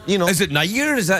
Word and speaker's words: Nayyar: Is it Nayyar? Is that how you pronounce it? Yeah, it's like actually in India you pronounce it Nayyar, like Mayor.